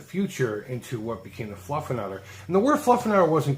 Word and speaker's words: Fluffernutter: It's spelt with ERs all over the place, but to pronounce it correctly, it's Fluffernutter.